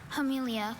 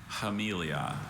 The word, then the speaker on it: Hamelia: Hamelia. Can you pronounce it one more time? Hamelia.